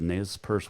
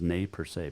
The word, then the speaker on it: Nez Perce: paw mountains ending the nes purse war also the nay per se it's actually the correct pronunciation of the nez perce is nay per se but chief joseph's speech